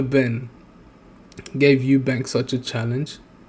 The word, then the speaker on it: Benn: point like uh if Connor Benner Oh, why do I keep saying his name wrong, bro? If Connor Ben gave Eubank such a